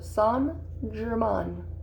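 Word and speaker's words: St-Germain: And instead of saying saint, you actually say son. So son Jer Mahn.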